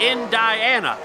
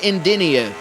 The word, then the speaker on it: Indiana: That's why they call it Indiana. Oh, there you go. That's makes sense. Always makes sense. All this time I've been pronouncing it Indinia, and that's my mistake.